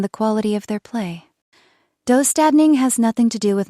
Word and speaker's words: Döstädning: The first concept is Döstädning, pronounced Dö, Stasdai.